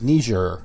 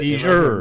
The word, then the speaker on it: Niger: No, it's Niger. Niger. Yeah, you're right. You have the Niger. Niger. The accent is on jour. Niger. Niger. Let's say it one more time. It's French. Niger.